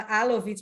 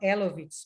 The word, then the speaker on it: Elovitch: Engraçado que a gente em hebraico fala Alovitch, mas eu vi que em inglês eles falam Elovitch, mas é Alovitch, que a gente vai falar em hebraico, como se fala em hebraico.